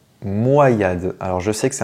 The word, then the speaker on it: Moyade: igolta Pokémon suivant est-ce qu'on dit moyad ou moyad et bien on doit le prononcer moyad alors je sais que c'est un Pokémon que